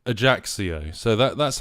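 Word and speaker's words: Ajaccio: the pronunciation there and this is how you pronounce the AIO a AIO AIO so that that's how you pronounce the the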